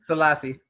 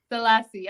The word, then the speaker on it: Sellassie: I be getting names wrong how do you pronounce the last name salassi salassi okay I wanted to say that salasi okay it's all love don't worry about it